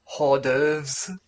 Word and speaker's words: hors d'oeuvres: They're usually pronounced as hors d'oeuvres.